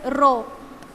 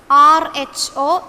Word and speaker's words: rho: This is pronounced as rho. R-H-O, rho.